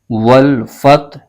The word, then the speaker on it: والفتح: ختم ہو جائے گی۔ اس کے ہجے یوں کریں گے، واو لام زبر ول، ف ت زبر فت، والفتح، ح پیش حو، والفتح، آگے وقف، والفتح۔ اب اس آیت کو